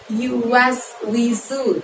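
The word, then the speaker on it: يوسوس: Kemudian setelah alladzi ada yuwaswisu, di situ hurufnya sin lagi, maka tarik bibirnya. Yuwaswisu ya.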